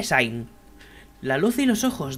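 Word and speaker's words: Sein: regresando soy 62 años supondría que se pronuncian alemán así que diré sainz la luz en los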